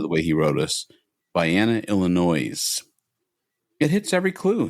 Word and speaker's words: Vienna: I'm going to go with Vienna, Illinois, and I intentionally pronounced the S silent."